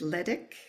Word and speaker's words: Leitich: her middle name, but let me spell it for you. It is Leitich. I think it's Ledick, Okay. Cynthia Ledick Smith.